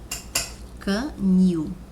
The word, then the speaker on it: canil: para o exemplo canil quando você pronuncia a palavra canil canil e vamos limpar aquele canil e vamos comprar aquele canil bom então você percebe aí que a palavra new ou seja a sílaba new o som soa mais forte mais forte do que o carro